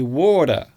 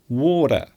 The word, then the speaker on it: water: accent, you might say water, water. So the T isn't really pronounced as the letter T. It sounds more like the letter D. So water, water.